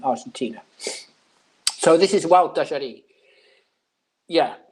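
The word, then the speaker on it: Gualtallary: So this is Wild Dajari. Yeah. How do I ask people? How do I say? Just think of I don't know, Walter, and Jari, in how you pronounce it.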